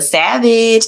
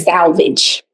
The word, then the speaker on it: Savage: for having me and thank you so much for pronouncing my name correctly. Oh, people mess up your name all the time. That's crazy. It's not that hard. All the time. All the time. I also get salvage.